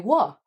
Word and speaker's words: Wha: He started playing in Café Wa, which is spelt WHA, ?